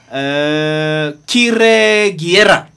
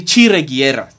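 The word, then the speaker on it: Kiregyera: title just now, but his name is Professor Kire Giera. I'm told that it's actually Chire Giera. So let me try and pronounce it correctly.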